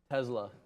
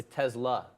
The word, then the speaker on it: Tesla: say Tesla Tesla why why are you putting the Z in there because that's how you say it it's not like just because there's an S it's not set Tesla it's a Tesla it's Nikola Tesla Tesla